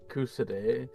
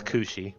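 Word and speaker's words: Cu Sidhe: I always called it Cusade. Cusade, but I but I It's cushi. Cushi. Oh, okay. Such an unusual name. It's um Celtic.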